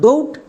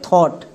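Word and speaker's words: thought: সো এর উচ্চারণটা হবে থট। তাই এই দুটো ওয়ার্ডকে খুব ভালো করে দেখে রাখবা। যদি শব্দের শেষে জিএইচ এর পরে টি থাকে উচ্চারণ করবা থট।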